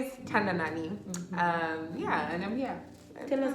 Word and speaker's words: Tandanani: I have the beautiful Tandanani. Hi guys. Say your name out loud too, because I feel like I'm pronouncing it right too. It is right. It is right. Hi guys, my name is Tandanani.